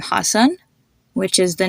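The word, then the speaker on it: Hasan: can see this a sound in the name Hassan which is the name of the comedian Hassan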